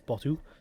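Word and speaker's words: BOTW: That is how it's pronounced, B-O-T-W, it's Botu.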